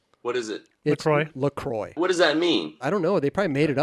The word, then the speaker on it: Lacroix: go yeah what are you running these days Lucroy yeah I got that oh we actually found out to pronounce the the proper pronunciation what is it Troy Lacroix what does that mean I don't know they